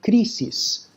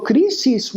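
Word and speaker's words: κρίσις: And that word is an old Greek word that would have been pronounced something like krisis in ancient Greece.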